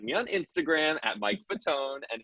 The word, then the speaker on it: Fatone: As for my handle, you can find me on Instagram at Mike Fatone, and its last name is spelled like Fat One, and or Joey Fatone. Fatone like Joey Fatone.